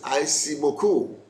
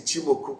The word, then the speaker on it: Ichimoku: Some people call it Aishimoku, but this is Ichimoku Kinko Hao. It's a Japanese word. We just pronounce it the way it is.